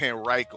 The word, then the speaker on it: Henrico: That's how you say it, Henrico.